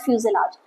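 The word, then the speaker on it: fuselage: में बोलते हैं फ्यूजल आर्च टर्म ध्यान दीजिएगा प्रोनन्सिएशन पे ध्यान दीजिएगा this is called फ्यूजलार्ज the centre body of the aircraft जहां पे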